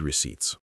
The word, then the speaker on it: receipts: That's why some people turn off their read receipts. Let's spell that. R E A D read. R E C E Ts. Receipts. Note the silent P.